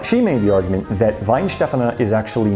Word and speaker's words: Weihenstephan: once they graduate and I understand that it's pronounced Vine Stefan and I got that information from fely in Germany's YouTube video whether it's at the